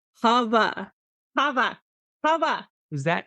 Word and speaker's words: Hava: and every time I'm just like, it's Hava, Hava, Hava. Is that how they pronounce princess here?